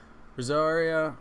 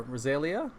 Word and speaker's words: Rosaria: Rosaria, or Rosalia? Wait, what? Have I been saying it wrong? No, there's just a random L in here because of Google Translate.